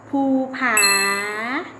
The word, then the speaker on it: ภูผา: คำ นำ เรื่อง หมอ ภูผา สะกด ด้วย พอ กู พูห์ ผอ. อาภา สาขา อ่าน ว่า ภูผา รอ คอย คุณ พ่อ สระกุด ด้วย พอ ไม้ เอก พ่อ อ่าน ว่า พ่อ แม่ สระกุด ด้วย มร.